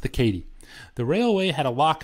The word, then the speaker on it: Katy: Well, let me tell you about the 1890s and this fast-growing, cutting-edge technology company, the Missouri-Kansas-Texas Railway, pronounced the Katy.